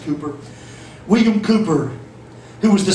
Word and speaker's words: Cowper: Sometime during the 1700s, William Cowper, I wanted to pronounce his name Cowper, C-O-W-P-E-R, but according to the dictionary, it's pronounced Cooper.